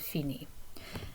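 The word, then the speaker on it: finit: le cool and notice we have the silent t also at the end of feni okay so to say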